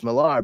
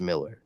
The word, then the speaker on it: Miller: at and be like oh it's milar but I've read and heard interviews with them several where he said like it's actually it's Miller it's it's pronounced Miller you know and I'm like